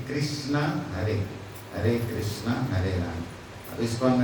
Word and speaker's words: राम: है कृष्णा हरे राम और म में पूरा अ आना चाहिए राम नहीं राम म कट गया राम राम अ हुआ ना पूर्ण है तो आधा म नहीं होता है राम राम भी भाव देखते लेकिन सही उच्चारण तो राम म पूरा होना चाहिए हरे कृष्णा हरे राम